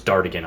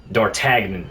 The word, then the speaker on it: Dartagnan: His name was Dartigan, I do believe. Let me double check. Yes, Dartigan. Thank you so much. Or, I think I might be pronouncing that wrong. Dartagnan, my bad.